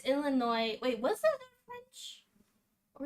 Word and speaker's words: Illinois: So is it Illinois or Illinois? Okay, it's Illinois.